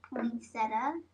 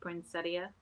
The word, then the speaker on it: poinsettia: I think most people say poinsetta, but it is supposed to be pronounced poinsettia. I think we just ignore it. The eye. Yeah, I think most everybody skips the eye.